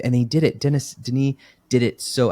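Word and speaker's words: Denis: they did it Dennis Deni did it so I guess his name is pronounced Den even though it looks like Dennis but Deni talks about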